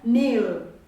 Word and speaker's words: kneel: But when you are reading this word, you are supposed to read it as kneel. Kneel. The k is silent.